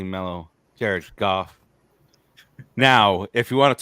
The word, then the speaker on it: Goff: I have Jordan love 13 I have Jared goof 12 I have Tua 11 I have the